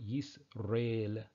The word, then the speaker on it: Yisrael: But I want to focus on just the first part, Yisrael, that he has there. So this again would be pronounced Yisrael, for example.